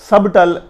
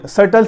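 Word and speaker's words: subtle: ٹی اے ایل, ٹل, سرٹل. سبٹل نہیں پڑھنا. اس کا سبٹل, سوری, سرٹل سے مراد ہوتا ہے نفیس یا یہ نازک کے زمرے میں آتا ہے. ویسے مکار بھی اسے کہا جا سکتا ہے, سرٹل کے میننگ میں آتا ہے. تو یہ لفظ سبٹل نہیں ہے, سرٹل ہے.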